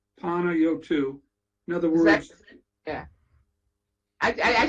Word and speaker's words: Panayiotou: I believe that the correct pronunciation, and he can correct me, is Panayiotou. Panayiotou.